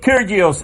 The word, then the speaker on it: Kyrgios: open care I'm gay Nick Kyrgios a pep talk o Terios I believe that G is silent there that's okay you